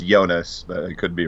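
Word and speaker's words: Joonas: night how is it is two o's in Dutch is that just an o sound like I think his name is yonas I think is how you pronounce it j o o n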